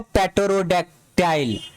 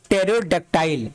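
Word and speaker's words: pterodactyl: आप कब पढ़ोगे इसको, पेटरोडैक्टाइल, तो ये पी वर्ड यहाँ पे साइलेंट होगा क्योंकि पीटी है, टी भी है, पीटी है, तो इसको क्या पढ़ेंगे, टेरोडक्टाइल।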